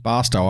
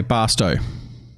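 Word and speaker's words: Barstow: frozen food or flour pronounced as if it was toe okay basto okay the way americans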